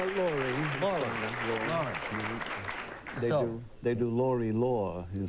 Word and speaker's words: Lore: Am I pronouncing your first name correctly? Laurie.